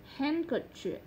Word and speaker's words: handkerchief: D không được phát âm trong những từ thông thường sau, như từ handkerchief.